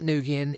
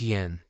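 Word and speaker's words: Nguyen: It's not Nugan, it's Yin.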